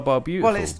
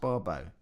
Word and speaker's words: Barbeau: But it looks like it's Carl Barbeautiful. Well, I've asked him. He said it's Barbo. But it's spelt Carl Barbeau. Well, it's pronounced Barbo. All right, Carl Barbo. Oh, as in water.